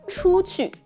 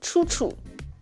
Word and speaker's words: 出去: It can easily be pronounced as 出出, 出出. Because they seem to both use U.